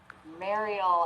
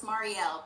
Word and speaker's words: Marielle: Please welcome Mariel. I think I said it wrong again to the show. It's okay. Yes, it's Marielle, but that is totally fine. Yes. I have to remember that L, Marielle.